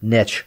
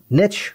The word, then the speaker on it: niche: into nearly any other niche market. And yes, we like the word niche rather than niche, because niche rhymes with rich.